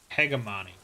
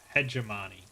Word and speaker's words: hegemony: hegemon peg of PEG a minute hegemony that's not how it's pronounced hegemony there's no uprising just